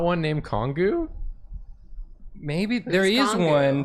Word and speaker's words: Kongu: When in Pronunciation for Kongu is Kongu.